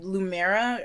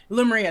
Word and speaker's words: Lemuria: Because in the comics we get Lumera, or I can't pronounce Lemuria? Lemuria, thank you.